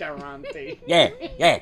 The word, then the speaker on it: ristorante: Grandpa's Ristorante. You got it in New Yeah, York. yeah. Say it right if you're gonna say it. Ristorante.